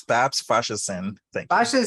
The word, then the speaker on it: Faseesin: really excited to have my new friend bob's fashion no no i pronounced it wrong tell me how do you pronounce your name again bob it's bob's fascism thank you saying now righty and bob's is